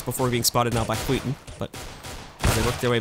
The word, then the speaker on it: SKYTTEN: And as they slowly creep their way in, SKYTTEN. That's right, I learned how to pronounce it on the break.